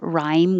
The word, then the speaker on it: rhyme: Rhyme, if I spelled it like this, which is an alternate spelling for rhyme with a H and a Y, it makes more sense. It helps maybe if you think of other words like time and lime, um, you're used to that pattern. Rhyme, the vowel is I.